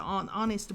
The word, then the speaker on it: honest: UN MP3 player 하고요 그다음에 hest 같은 경우에도 지금 보면 어때요 h 소리 안납니다 h 왔을 때 h 소리 안 나는 거 지금 알겠죠 그래서 hest 하니까 unhonest